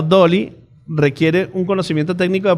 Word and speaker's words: DALL-E: Integrar ChatGPT con DALL-E, pronunciado Dolly, requiere un conocimiento técnico de programación y capacidad de trabajar en tecnología de inteligencia artificial.